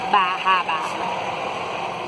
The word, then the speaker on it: Bar Harbor: Even buy a t-shirt that tells you how to properly pronounce the name of the town. Bahaba.